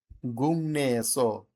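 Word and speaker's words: 국내: গুং নে এসো, গুং নে এসো, গুং।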